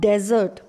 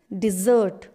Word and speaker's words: dessert: do we call it it's not desert okay it's dessert dessert after my meal i